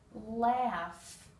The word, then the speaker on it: laugh: a j langage gim laugh this G and H combination actually make an F sound laugh thought the G